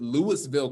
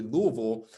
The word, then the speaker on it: Louisville: This was in, I like to pronounce it Louisville, Kentucky, but it's actually Louisville, is that it took the 7th attempt just